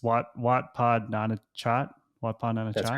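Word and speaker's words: Wat Pah Nanachat: Can you help me with pronunciation? It's Wat Pod Nana Chat.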